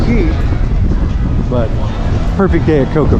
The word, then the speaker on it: Cay: Although I think it's pronounced Key.